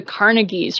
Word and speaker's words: Carnegie: I went to the Carnegies or Carnegie. It depends on where in the country you are as to how you pronounce that.